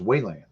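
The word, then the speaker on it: Weiland: So Oh, it's pronounced Wayland.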